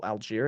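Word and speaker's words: Allgeier: Oh, Algier. Is that how you pronounce it?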